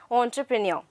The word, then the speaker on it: entrepreneur: students pronunciation or but what is the correct pronunciation over here it's entrepreneur for fine you should know the spelling also